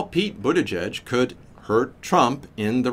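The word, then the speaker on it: Buttigieg: to get it wrong but butajudge seems to be the correct way to pronounce it how Pete budajudge could hurt Trump in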